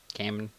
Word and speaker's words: Kamen: Kamen.